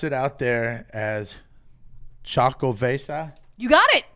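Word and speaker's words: Xocoveza: But he said that they pronounce it out there as Chocovesa. You got it. It's Chocovesa.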